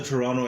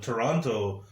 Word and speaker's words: Toronto: and they're like oh toronto oh big big deal here exactly and you said it right because they pronounced the second tee over here we don't toronto toronto around